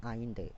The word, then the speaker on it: Allende: रहते हैं वो सल्वाडोर आइंडे रहते हैं, ठीक है। स्पेलिंग ये है लेकिन इसको पढ़ा जाता है आइंडे। एनसीईआरटी ब्रैकेट में लिखती भी है कि इसको प्रोनाउंस क्या करना है, आइंदे पढ़ना है।